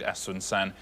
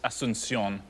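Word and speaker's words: Asunción: I think asunan is asunion.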